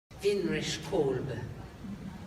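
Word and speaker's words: Winrich Kolbe: Vinrich Kolbe. That's how you say it. Just have her go at it. Vinrich Kolbe, German.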